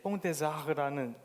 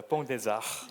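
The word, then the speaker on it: Pont des Arts: 그리고 프랑스 파리의 뽕데자르라는 재수없지 않나요? 네, 정확한 발음입니다. 뽕데자르.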